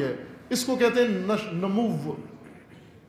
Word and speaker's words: نمو: اس کو کہتے ہیں نمو. کہ بسا ہوگا اردو تلفظ میں نمو, بس پڑھتے ہیں اس کو نمو, نشو, نشو اور نمو نہیں کہ پڑھیں اس کو, بس پڑھتے ہیں لوری لہجے میں اردو, نشو اور نمو, نشو نما, نشو نما بڑھنا.